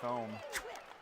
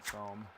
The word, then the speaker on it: Thome: yeah, I like Jim Thome. And I mean, that is how it's phonetically spelled. There's home, TH makes a sound. Thome made a lot of sense.